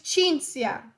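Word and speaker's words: Cinzia: sound is spelled c i so chi in Italian Chi Chi so my name is Chincia in Italian even when I say that it's just annoying because it's like if you say my name in the proper Italian pronunciation you're angry at me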